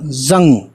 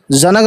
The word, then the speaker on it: जंग: भी फारसी वर्ड है, जे नून जंग और गाफ, जनक नहीं पढ़ेंगे इसको। यहाँ पे नून जो है दो तरह से यूज़ होता है, या तो ना साउंड के लिए या फिर चंद्रबिंदी के लिए, ठीक है ना।